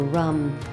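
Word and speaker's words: ram: That's r a m pronounced with a a short a like uh so rum. Uh that is the seed syllable for the solar plexus.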